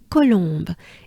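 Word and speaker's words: Colombe: you know it means dove in french it's columbe it's the bird the dove and it's columbe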